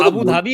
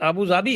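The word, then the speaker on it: أبو ظبي: नहीं कर सकते जैसे वो अबू धाबी है ना अबू धाबी उसका एक्चुअल प्रशन अबू जाबी है ओके इट अबू जाबी ओके नहीं तो फैक्ट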